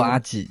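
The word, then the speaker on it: アジ: 接下来是竹荚鱼，日文读作阿吉，也是我的日文名。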